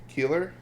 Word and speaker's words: Keillor: Garrison Keillor, I believe is how you pronounce it.